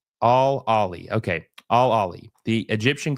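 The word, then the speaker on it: Al Ahly: absolutely got screwed uh you could pronounce it like all Ali okay all Ali the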